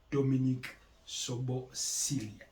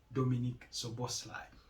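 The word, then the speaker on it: Dominik Szoboszlai: And that attacking midfielder is no other than Dominic Soboslai. That's how they pronounce it. Dominic Soboslai. You'll find the spelling quite different, but that's the pronunciation. Dominic Soboslai.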